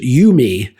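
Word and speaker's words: UMII: And they thought that was cool because you pronounce it you-me, which you and me.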